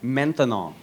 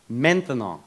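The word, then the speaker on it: maintenant: That's right. Menthanol. Menan. Three syllables.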